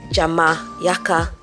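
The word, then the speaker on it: Xaymaca: Okay, so interestingly enough, very recently I discovered that the word Jamaica is actually derived from the tree language and it's pronounced Jama Yaka, meaning perhaps we are stuck.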